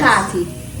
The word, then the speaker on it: khati: khati. By Christmas, we promise. Just try it, please. You just go. You know when you try to scratch your throat?